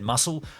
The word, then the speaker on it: muscle: maskol now I know it's not said my school had spelled with the C but it said muscle I like to say